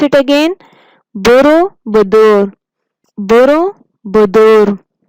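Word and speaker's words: Borobudur: फिर इसके बाद दूसरे पिक्चर में है बोरोबुदुर। बोरोबुदुर, pronounce it again, बोरोबुदुर, बोरोबुदुर।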